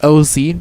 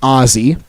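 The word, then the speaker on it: Osie: first name is OS i e but it's pronounced oie not Aussie so a unique name here for burns Cool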